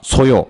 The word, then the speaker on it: 소요: 잠재 수요, 예비 수요라고 하고 얘는 수요라고 읽지 않고 한 줄 내려오니까 뭐라고 된다? 소요.